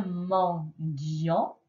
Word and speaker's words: mendiant: Un mendiant. il y a un T muet à la fin, un mendiant.